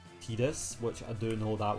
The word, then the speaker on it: Tidus: And people say that Tidus is pronounced Tidus, which I do know that one is 100% true, but I hate that one.